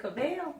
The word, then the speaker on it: Cavill: Henry Cavill is good. I mean, is it Cavill? Cavill, sorry. We want to make sure we pronounce names.